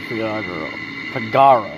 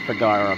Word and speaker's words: Figaro: Make your way first to Figaro, whatever, and talk to the king. That's how you say it, Figaro, not Figaro.